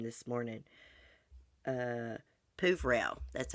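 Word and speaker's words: Peuvrelle: Deputy District Attorney Christopher, I looked up his name this morning, Pouvrel, that's how you say it, Pouvrel said.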